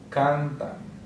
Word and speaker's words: cantan: So the second to last will be here. Cantan.